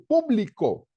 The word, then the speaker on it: público: dirán no es ministerio público no público correcto cuando hablamos del Ministerio Público o la administración pública la cosa pública es con acento en la u público no público estaba yo publico mi